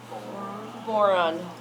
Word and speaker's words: boron: Rhymes with moron. Boron.